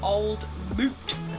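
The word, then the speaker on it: Old Mout: See, it says to pronounce it old moot cider.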